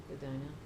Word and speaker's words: Edina: Guess how it's pronounced? Edina.